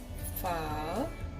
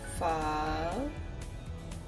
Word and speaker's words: pho: soup is vietnamese soup we call it fall i'm practicing the pronunciation how the the japanese that sorry how the vietnamese people pronounce it so it says fall okay so that's the